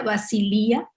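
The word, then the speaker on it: βασιλεία: viene del griego basileia, así se escribe, aunque se pronuncia basilia, y en el uso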